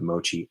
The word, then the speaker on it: Moqi: i want to say it right it's the mochi i7s and the software on it's amazing check